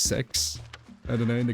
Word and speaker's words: CEX: Oh, yeah, there's CEX and it's like actually pronounced sex.